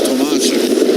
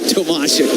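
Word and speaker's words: Tomášek: David has requested it is Tomashek. Yeah. Although, well, he was okay with either, but we had to press him a little. But Tomashek would be the proper pronunciation.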